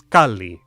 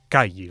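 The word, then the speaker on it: calli: mexican language tips like when you see two consonants in a row pronounce both a house was kali not kaiyi like if this were spanish tips like there are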